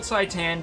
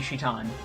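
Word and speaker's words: Citan: green shirt guy shitan i know it's spelled saitan but that's a misromanization it's meant to be shitan see yeah and that's how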